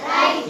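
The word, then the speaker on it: write: इसके बाद फिर अब देखो अब डब्ल्यू में राइट है। क्या है? राइट। हम बोलते हैं इसको क्या? राइट। क्या बोलते हैं? राइट।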